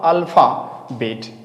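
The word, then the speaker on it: alphabet: यहाँ अल्फा, अल्फा बेट। यहाँ मेरी बात समझना, पीएच को हम क्या करेंगे, एफ के रूप में प्रोनाउंसिएट करेंगे, यानी कि टेलीफोन बोलेंगे, यहाँ पे अल्फाबेट बोलेंगे।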